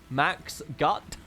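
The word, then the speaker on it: Mach's gut: other spell it correctly masks gute means goodbye does it really did I say that correct that's good is that it Mac's gut is how I would say that correctly as a British man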